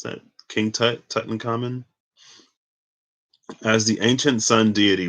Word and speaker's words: Tutankhamun: the tomb of ancient Egyptian boy king uh, Tutankhamun, right? That's how you pronounce that. King Tutankhamun, as the ancient sun deity Ra joins with